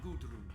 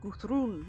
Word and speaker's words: Gudrun: Just you, me, and Gudrun here. No, it's not pronounced with a D. It's Guthrun with a TH.